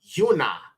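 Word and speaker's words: יונה: yah okay very simple next word is Yuna or Jonah in the English and that is simply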